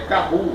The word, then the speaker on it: Kahoot: K-A-H-A-O-O-T. É Kahoot, né? Se fala Kahoot, mas se escreve dessa forma.